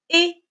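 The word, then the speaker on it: -er: Les verbes du premier groupe avec la terminaison ER. ER. Prononcez et.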